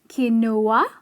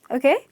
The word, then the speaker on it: quinoa: as pronouncing it as qi-noa thinking "U" is silent qi-noa but actually it’s not pronounced like that its pronounced as keen--wah so instead of saying